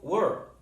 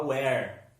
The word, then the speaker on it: were: Cuidado, a pronúncia do were. Muita gente tem a tendência de falar where. Cuidado, né? Where é onde. Lembra? né? W-H-E-R-E. Where, onde? Were, é fechado, tá?